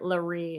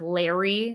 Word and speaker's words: Laree: But yeah, you say my handle, it's Laree, if you're ever wondering. Fun fact. That's Laree is my mom's name, and it's spelled just like my handle. And she got called like Larry so much in her life.